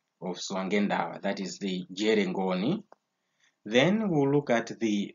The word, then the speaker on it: Ngoni: When you pronounce Ngoni and Nguni, they should differ there. Ngoni, we mean the people.